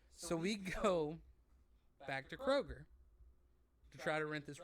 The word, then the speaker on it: Kroger: want to point out Kroger does not have an S anybody that says Kroger's you're wrong and I despise you it is Kroger and it's honestly pronounced K Roger but you know whatever